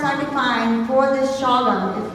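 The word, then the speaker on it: Chagum: They would pronounce it Shawgum. We, as family members, have gone to the original name, to the earliest form, which was C-H-A-G-U-M.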